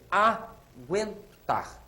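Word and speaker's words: agüentar: sobre a letra U olhem bem aguentar Olha a pronúncia a agentar que que eu falei gu gu aguentar trema na letra U aquele u tá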